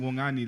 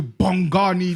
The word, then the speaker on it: Bongani: and like I said, the B's pronounced as a W. Bongani. But like so imagine my name. Bongani. It's such a my name is such a smooth and gentle name, Wongani.